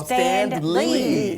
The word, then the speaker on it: Standlee: You don't pronounce the D, right? No, we do. Oh, Standlee. That's it. Him with the hard D.